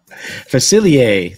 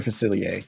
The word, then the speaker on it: Facilier: or false felici what f facilier that's how you say his name Dr facilier so Mama Oda Odie